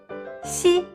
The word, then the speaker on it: xi: Xi. To pronounce this sound, you need to approach the front hard palate with the front tongue, but there is still a gap between them, so they are not touching it.